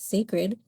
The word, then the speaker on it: Cecred: So, today we'll be diving into the brand Sacred. Sacred spelled C E C R E D but pronounced Sacred is a brand created by the American singer, songwriter, and businesswoman Beyonce.